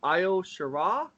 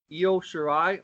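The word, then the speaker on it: Io Shirai: we have uh nxt women's championship match uh io shira is that am i pronouncing that yo shirai okay thank you i appreciate that versus um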